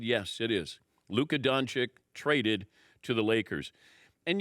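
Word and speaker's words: Luka Dončić: is talking about this is that how you pronounce his name I said yes it is Luca donic traded to the Lakers and you start to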